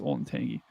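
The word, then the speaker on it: Olentangy: that is very true like uh ol and Tangi I I always say uh that's where I went to high school ol and Tangi but uh it's it's like pronounced old and tangy okay so this is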